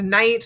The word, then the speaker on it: knight: k n k and the k is silent and this is knight like a knight in